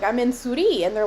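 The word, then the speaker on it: Souris: husband was in college there's a town in pei that's spelled s-o-u-r-i-s uh which in french is suri which means mouse so when he was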